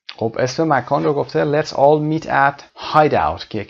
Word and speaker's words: Hideout: let's all meet at Hideout let's all meet at Hideout he meant h i d e o u t you know like a hiding place which was the name